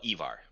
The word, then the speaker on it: Ivar: Either Ivar or Ivar, whichever way. Like, I mean, I'm sure accents would change how you say it. Oh, which would you prefer? He calls himself Ivar. Ivar.